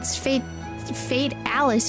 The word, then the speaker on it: Fatalis: It's fate Alice when you say it though. Like the word fatal for fatalis.